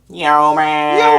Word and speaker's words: yeomen: But we're not 100% sure on mounted yeomen, but I'm not too worried about them, to be honest. I've only got 10 of them. You said it wrong. Yeoman!